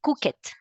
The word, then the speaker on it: cooked: ED, I don't say cooked, I say cooked. T. Tiene que ser sin la E, all right? The rule, Carolina, is mainly T or D, pronounce the E, yes?